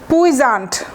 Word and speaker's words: puissant: তাহলে পুইজান্ট আমি এইভাবেই মনে রাখতাম, PUI, তো ওইভাবে পুইজান্ট মনে রাখতাম। বিদেশিরা হয়তো আরেকটু অন্যভাবে উচ্চারণ করতে পারে, বাট এই উচ্চারণটাও ঠিক, পুইজান্ট, SSANT, পুইজান্ট।